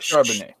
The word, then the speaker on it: Charbonnet: It's Zach Charbonnet. Charbonnet. Okay. French.